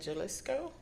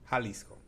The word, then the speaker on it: Jalisco: So for it to be called tequila, it has to be made in Jalisco? Jalisco. Oh, Jalisco. Jalisco. Okay, sorry. I did that famous incorrect pronunciation of J.